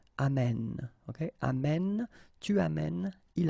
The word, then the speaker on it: amène: And then it will change, of course, the pronunciation, because you will have this sound open, amène, okay?